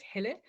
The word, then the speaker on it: Helle: So the Danish pronunciation of my name is Helle, but people call me all sorts of things and whatever, I'll respond.